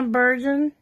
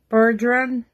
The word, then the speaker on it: Bergeron: Sonia Bergen. I'm saying it wrong. Bergeron.